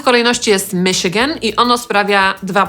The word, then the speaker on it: Michigan: Po pierwsze nie wszyscy pamiętają, że to „ch” należy czytać jako „sz” i wymawiają to np. jako „cz”, a po drugie mamy tutaj w pisowni samogłoski i-i-a, a czytamy to tak naprawdę przez trzy „i” – /ˈmɪʃɪɡən/. Potem mamy Minnesota /mɪnɪˈsoʊt̬ə/ zapisywane